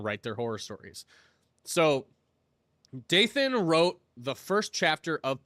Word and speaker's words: Dathan: I keep wanting to mispronounce that as like Nathan. Dathan.